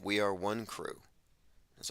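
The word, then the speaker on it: Wonkru: call themselves one crew it sounds like one crew it's spelled w-o-n-k-r-u and it means one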